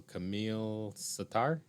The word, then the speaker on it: Kamil Sattar: And I want to make sure I'm pronouncing your name correctly. So Kamil Sattar.